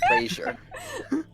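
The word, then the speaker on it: brazier: yes yes Razer brazer I braer like Azure but it's braer braer unless you need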